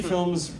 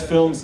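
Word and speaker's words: Filums: Films is spelled F-I-L-U-M-S, which is the Hindi pronunciation of the English word.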